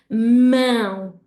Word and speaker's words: mão: So the word for hand is mão, mão. You can have a go, really screw up your nose and make sure that you're really giving a nasal sound, okay? Mão.